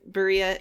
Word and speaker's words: birria: I think I put the emphasis on the second I, birria, and he said birria.